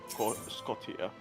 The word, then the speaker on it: Scotia: plate, South American plate, Scotia. Those are the plates. Scotia. Scotia. But it's written with a T. Why do you pronounce it T as a sh? Fuck you. TIA as a sh.